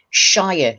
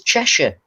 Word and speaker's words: Cheshire: to pronounce things because they say shyer cheshire and we it's cheshire nottinghamshire not shire you don't eat so